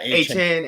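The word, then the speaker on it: Achane: I pronounced that right, A-Chain, right? That's how you want to pronounce? You want to A-Chain. Yeah, A-Chain.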